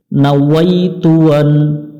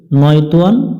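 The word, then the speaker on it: نويت أن: নাওয়াইতু আন, এখানে অনেকজনে আমরা ভুল করি, নয়তুয়ান বা না আইতুয়ান এই ধরনের আমরা উচ্চারণ করে থাকি। আমরা এখানে পড়ব না ওয়াইতুয়ান, ওয়াই ইয়াজবর ওয়াই হয়ে এখানে না ওয়াইতুয়ান, না ওয়াইতু আন।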